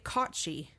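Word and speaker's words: cat sìth: So, it is about the CAUGHT-SHEE. Okay. Which, if you look at the spelling of it, it is literally cat, CAT, -sith, SITH.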